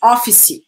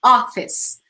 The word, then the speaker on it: office: office guys it's not be careful with the pronunciation I hear lots of people saying office office office E is that office e right off you see no office where do them six